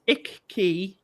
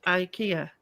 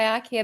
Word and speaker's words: IKEA: By the way, Jordan says it's Icky, not IKEA. Well, here we go. Here we go. The way they say it in Scandinavia is how they Is that how they say it? It's on the But we say IKEA because we're British.